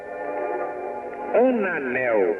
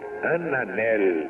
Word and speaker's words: Ananel: Ananel. A N A N E L. Ananel. Ananel. ou ananel, como dizemos nós, que muita gente quer que o L seja pronunciado a moda castelhana, Brasil nacional, mas só o gaúcho consegue dizer isso.